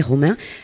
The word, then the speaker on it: Romain: Alors Romain, c'est comme le prénom, hein, Romain.